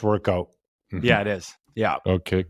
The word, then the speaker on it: WRKOUT: So still pronounced workout.